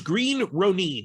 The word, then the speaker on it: Green Ronin: It is Green Ronin. You can argue about how Ronin is argued in the English language, but as a proper noun, the company name is Green Ronin.